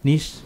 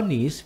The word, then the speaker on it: niche: Nah satu lagi yang paling tinggi adalah niche perfume. Niche parfum. Itu Iya. gimana? Tulisannya NICHE, niche. Aha.